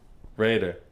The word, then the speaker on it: Raiter: Oh, Rater. Raider. Like when you show up to the date, you're gonna rate her.